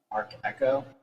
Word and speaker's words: Arch Echo: stuff i would say arc echo so it's spelled a-r-c-h like arch echo okay um oh i